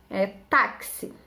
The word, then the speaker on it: táxi: Táxi. Quando eu falo táxi, vou pegar o táxi. Táxi se escreve com X, mas tem som de CS ou de KS, tá bom?